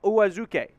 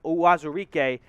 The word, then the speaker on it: Uwazurike: Ioma Uwazuke, the 4th round pick, and I just nailed that name pronunciation, by the way. Wazurike, what did I say? Yeah, Wazurike, Ioma Uwazurike out of Iowa State.